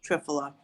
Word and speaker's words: Triphala: And I was taking US Triphala. I'm sorry, which way am I needing to pronounce it?